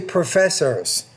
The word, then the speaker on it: professor: that is once a professor's the stress is on that second syllable much more money than